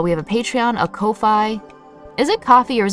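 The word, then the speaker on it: Ko-fi: streamlabs and this is the Kofi Kofi it's pronounced Kofi all right there we go and then this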